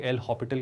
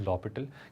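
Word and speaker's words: L'Hôpital: इसका correct pronunciation is लॉपिटल, क्योंकि ये एक फ्रेंच वर्ड है जहाँ पर एच साइलेंट है, और ये हॉस्पिटल नहीं है, हॉपिटल है, तो एच भी साइलेंट है, तो लॉपिटल रूल होता है।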